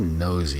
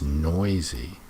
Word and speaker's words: noisy: Most parrots are noisy, It's not nosy, it's noisy.